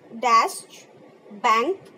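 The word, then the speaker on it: Deutsche Bank: डैश बैंक, AG, Frankfurt, Germany. It's a pronunciation like in a German language. So you look here this way, डैश बैंक, AC, Frankfurt, Germany.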